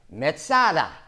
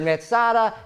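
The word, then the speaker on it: מצדה: Now, Masada is just the Roman way, Gentile way of pronouncing the Hebrew word Metzada. They heard Metzada, they call it Masada.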